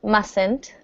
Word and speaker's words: mustn't: a contraction it's mustn't notice the first T is silent mustn't and let's see this